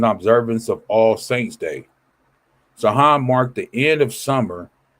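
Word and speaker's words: Samhain: I don't want to mispronounce it, but it's the way it's spelled is not the way it's pronounced, right? And involving the Christian observance of all saints day. Zahan marked the end of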